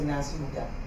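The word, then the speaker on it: Nansubuga: It's until I did research and I found out that because our B is silent, so this is why when I say Nasuga, you don't hear the B very well.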